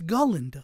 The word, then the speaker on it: Galinda: Glinda and I'm like it's ginda like say it like her stupid name in the movie but in the movie